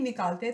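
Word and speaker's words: knock: the silent word letter और फिर मरियम हांडा नॉक अट थे डोर नॉब कहते हैं दरवाजा खटखटाने को मरियम दरवाजे खटखटा सुनिधि अब 9 को और से देखिए हमने नॉन की आवाज निकालने हैं इस लैटर के जो है वह साइलेंट है ठीक है नेक्स्ट सेंटेंस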